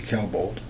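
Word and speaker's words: Klebold: cal bolt i think that's how his name is spelled k-l-e-b-o-l-d kel bolt he had a tac-9 dc nine-millimeter semi-automatic handgun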